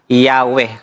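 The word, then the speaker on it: Yahweh: So sabi rito and was probably pronounced as Yahwe.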